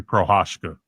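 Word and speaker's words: Procházka: Uh, KO by how the do you pronounce this guy's name? Jerry Jerry Prohashka. Jerry Pasha.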